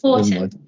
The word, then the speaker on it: Houghton: So we've got another one, Councillor Houghton. Have I said that correctly? I realise I've never asked you how to pronounce your surname. I actually pronounce it Horton because I'm from up north. Horton.